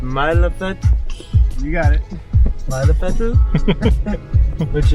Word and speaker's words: Mælefell: Pronunciation is good, man. Yeah? Mælefell.